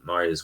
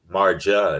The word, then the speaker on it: Maria: There's no rolling of the R. It's more silent, like Spanish, if you will. So props. You don't pronounce the J as a Marja. It's Maria.